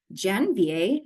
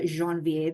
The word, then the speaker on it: Janvier: Alex Janvier, not the Jeanvier that I want to say, um is from the